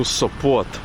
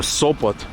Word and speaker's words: Sopot: I looked at the map and we're pretty much halfway to Sopot. Or Sopot, depending on how you pronounce it.